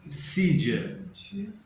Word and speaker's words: Pisídia: é é interessante PS Mas por que que o psi é mudo é porque No grego tem uma uma uma letra que que é chamada Psi Psi o qu e Antioquia da psid psia com s depois do é psia com s com s